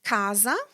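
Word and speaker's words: casa: Then if C is before other vowels, it's pronounced like a K like in the word cat. Words like kaza, house, costto, cost, or kura cure.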